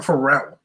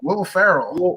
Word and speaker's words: Will Ferrell: Why do you keep calling him Pharrell? Wolf, how do you say his name? Will Ferrell. Will Ferrell.